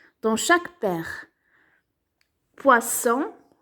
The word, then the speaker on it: poisson: Poisson, le. On entend S, donc on colorie.